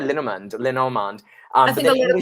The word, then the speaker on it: Lenormand: Lenormand, yeah. How do you say it? Lenormand.